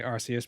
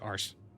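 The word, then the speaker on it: Arceus: is definitely in English say arus because the that's the original Japanese pronunciation yeah but in English it sounds like ARs and yeah then you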